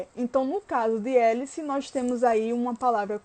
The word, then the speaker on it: hélice: nós não nesse caso nós não pronunciamos o h então a gente vai para anunciar ué l e então no caso de hélice nós temos aí uma